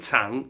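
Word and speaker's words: 藏: It's pronounced Zhang and Tsang. It's like not that many characters have two pronunciation, but this one does.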